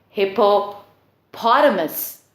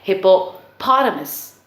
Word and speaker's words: hippopotamus: and you're stressing on hippopotamus so you're stressing on the paw there now what I